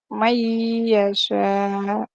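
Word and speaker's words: مَن يَشَاءُ: dengan tanda tasjid biasanya tulisan Man Yasya itu bacanya May Yasya May ada ee dileburkan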